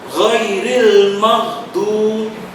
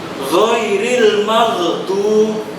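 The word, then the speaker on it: غير المغضوب: Kemudian ada huruf ghain, ghairil maghdub. Ada yang membacanya dengan memantulkan juga atau mengkolkolahkan. Ghairil maghdub, itu tidak tepat. Yang benar ghairil maghdub.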